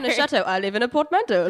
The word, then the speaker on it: portmanteau: So have you either of you ever heard of a portmanteau? No. You wrote the word down and I mispronounced it, so that should be a really good starting Can you point. say it again? Portmanteau.